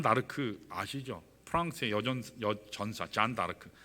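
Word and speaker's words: Jeanne d'Arc: 프랑스의 여전사 잔 다르크. 프랑스식으로는 그렇게 발음하는데 영어식으로 얘기하면 이게 조앤 아르크예요.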